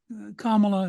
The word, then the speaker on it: Kamala: capable of doing for commala if I I say that right you did comma like the punctuation just I have people